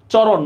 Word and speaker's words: চরণ: চরণ মূর্ধন্য আছে, আমরা উচ্চারণে দন্তন্য দিব।